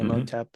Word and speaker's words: Imhotep: Imhotep, that's how you say it, right? Hmm. Imhotep.